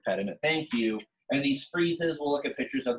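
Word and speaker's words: frieze: dwell on this but this is called a freeze I don't like that word because it sounds like freeze like something's freezing but it's spelled a little different and it's usually it's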